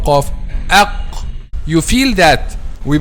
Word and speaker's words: ق: Okay, so we pronounce letter Qaf from the deepest part of the tongue, from the deepest part of the tongue. Okay, the back of the tongue. So the back of the tongue touches what lies opposite. The back of the tongue touches what lies opposite, which is what? Aq. Aq. Which is the soft palate.